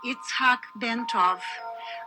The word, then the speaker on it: Itzhac Bentov: His full name was pronounced Itzhac Bentov, but to most people he was known simply as Ben.